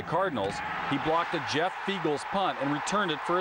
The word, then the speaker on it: Feagles: he blocked a Jeff feagle's Punt and returned it for a touchdown I was there that day Jeff used to putt for Philly and feagles as you may know rhymes with eagles and that should tell